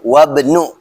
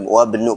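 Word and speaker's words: وابن: tuh tadi ya Ayas bacanya betul tuh wabnu bacanya wabnu karena Hamzah wasal Oke.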